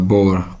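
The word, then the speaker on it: Bauer: शिरले बोर, BAUR, बोर, आर को pronounce नहीं किया जाता।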